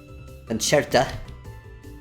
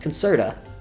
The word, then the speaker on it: Concerta: Concerta. The psychiatrist pronounces it. Not concerta. Concerta. Like a music.